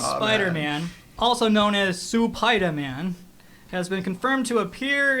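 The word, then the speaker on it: スパイダーマン: Supaidaman. Supaidaman.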